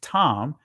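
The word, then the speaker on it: תם: from the uh the root word is tham in Israeli language is pronounced tam but when you see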